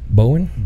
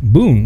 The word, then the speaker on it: Boone: He also serves as of counsel of the largest law firm in Dallas, Haynes and, how do you say this? Bowen? Boone. My bad.